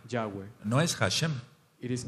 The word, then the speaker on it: Yahweh: We have to pronounce the name, Yahweh.